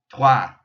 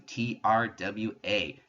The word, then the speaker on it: trois: When you see O and I together, it makes a wa sound. So you're actually pronouncing TRWA, trois, when you pronounce this one. And again, just like I said before, the S, since it's the last letter in the word, is silent. So trois. Quatre for four.